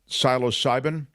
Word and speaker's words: psilocybin: It's psilocybin?